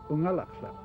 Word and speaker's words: Unalakleet: A lot of people think that Unalakleet means where the east wind blows, but the word Unalakleet is actually an Inupiaq word pronounced Unalakleet.